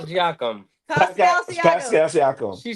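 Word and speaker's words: Siakam: Tyrese's Hallebertton because if Palsyakum plays well, uh, I wanted to be on Ty. He is overrated. What did you say? Is who, Jacob? I did. I say his name is Pascal Sakum.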